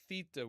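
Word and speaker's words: θῆτα: Theta with a th like in the word thing.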